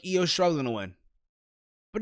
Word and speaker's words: Io Shirai: You had Candice LeRae versus Io Shirai, I'm saying it right this time, versus Bianca Belair versus Mia Yim.